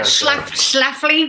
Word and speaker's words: Schlafly: - Like Phyllis Schlafly. Is that how you say it, the Cate Blanchett character? - Yeah Schlafly, Schlafly.